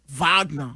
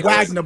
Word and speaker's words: Wagner: Vagner. That's how that is pronounced. Where's he from? Germany, I assume. I'm here in America, we say Wagner, brother.